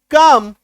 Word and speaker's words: calm: CALM एम से पहले एल है, काट दीजिए एल को, सोचिए है ही नहीं यहां पे ये। अब पढ़िए CM काम, ALMOND, है ना, एल से पहले एम से पहले एल है, ठीक है।